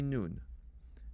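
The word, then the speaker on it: ܢܘܢ: You will see noon. Noon is equivalent to the letter N.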